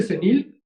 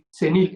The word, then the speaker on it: Zenil: Mira, me pueden encontrar como Cenil, todo juntito, sin espacios, Cenil. Y Cenil se escribe con Z, Z-E-N y latina L, Cenil, Cenil.